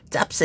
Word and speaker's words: 짭새: 근데 이게 발음이 우리 된 발음이 나잖아요. 된 발음이 나니까 잡새 이거 발음이 잘 안 돼요. 짭새 이렇게 된 거죠. 그래서 짭새가 된 거예요.